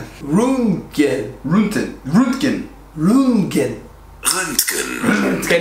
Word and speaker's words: Röntgen: Röntgen. Röntgen. Röntgen. Röntgen. Röntgen. Okay, now try. Röntgen. You gotta make it like an angry face when you say.